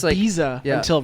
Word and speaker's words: Ibiza: Fun stuff, fact, I thought Yeah, it was it's like- Ibiza yeah. until right this second. Well, so. that's like the Yeah. official pronunciation for like the Spanish.